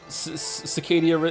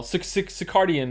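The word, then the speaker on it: circadian: Cicadia. It's not cicadia. hell. Sicardian rhythm. Thank you.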